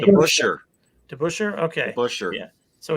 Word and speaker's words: DeBusschere: DeBusschere.